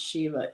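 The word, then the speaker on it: Siobhán: So Shiva is my name in Irish and it's pronounced Shiva.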